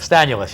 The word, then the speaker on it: Stanulis: Now you Stanilus. Stanulus, yes. Stanulis, Yes. okay.